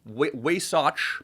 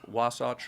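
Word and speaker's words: Wasatch: I went up there I don't think that's how you say it wa wasach or I think that's it yeah yeah yeah I just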